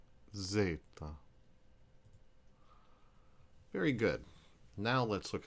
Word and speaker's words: zeta: and v is boo or V Z is Zeta all right this time let's just say the